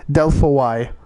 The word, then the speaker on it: Delphoi: So here's Delphi, or Delphi, or if you want to pronounce it the way that it's spelled in Greek, Delphoi.